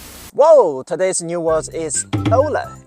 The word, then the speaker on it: Ora: new world is Ola it sounds a little bit like Aura right but still have some difference in the tail of the words oh oh pronounce it just like the letter O and L you could make it